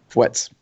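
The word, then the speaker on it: Feutz: How do you pronounce that? F-E-U-T-Z. Fwets.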